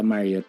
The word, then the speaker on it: Marriott: sa Ba't Marriott i-pronounce it? Hotel Gala o po. gala? Oh. Sa Marriott Hotel po, Marriott.